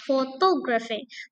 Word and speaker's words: photography: Eh, to eh foto to is third syllable gitu ya dari belakang. photography.